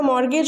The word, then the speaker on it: mortgage: The word T is silent in this.